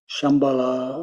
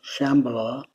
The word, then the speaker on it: Shambhala: in a place called Shambhala or Shambala however you want to pronounce that word I was told the